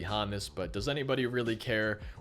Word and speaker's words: Honus: It's Honus and not Hannes, but you know it's actually Hannes.